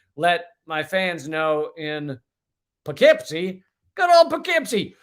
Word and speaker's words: Poughkeepsie: my fans know in Poughkeepsie, good old Poughkeepsie, or Puffkeepsie, pronounced correctly.